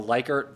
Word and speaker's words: Likert: One, I don't have a good name for, so I call them the Likert version or the Likert version, depending on how you'd like to say that poor man's mispronounced name.